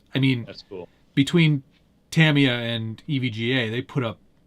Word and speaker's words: Tamiya: but it's Tamiya. Oh, all right. Good to know. We ended up talking to the guys from Tamaya, and they were like, no, it's not how you say it. It's Yeah. Tamiya.